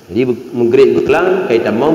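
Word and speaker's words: رجب: bersama Alhamdulillah hari ini 1 Rajab Rajab 1 rajabang Bul Rajab ya 27 rajab RAB Rajab sbananan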